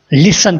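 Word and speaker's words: listen: मेरी बात सुनो, लिसन टू मी, लिसन टू मी। यहाँ पे हम लिसन में वर्ड टी को ड्रॉप करते हैं, साइलेंट करते हैं और इसको हम लिसन बोलते हैं और लिसन के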